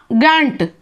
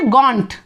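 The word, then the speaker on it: gaunt: गैंट। इसको क्या बोलेंगे? गैंट, है ना। और ये सॉरी, इसको क्या बोलते हैं बच्चे? गॉन्ट, है ना, गॉन्ट।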